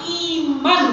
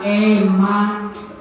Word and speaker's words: iman: Oleh karena itu makna malam hari ini Isra Mi'raj yang pertama kita tingkatkan iman kepada Allah, bukan eman.